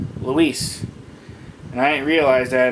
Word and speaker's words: Luis: I met him several times, and I always been calling him Louis. It was actually pronounced Luis, and I didn't realize that until like the other day.